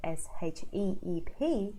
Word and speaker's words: sheep: vowel systems okay so you just want to relearn how to say the vowel so there you get them neutral because they make a huge difference I you say SH IP and how you say SH EEP ship sheep does change the content